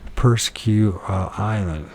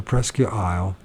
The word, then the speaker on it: Presque Isle: Another tall, unidentified creature had been seen in Presque Island. That's not how you pronounce it. I can't remember. Presque Island? But I can't remember it. So Presque Isle, July 30th, 1st.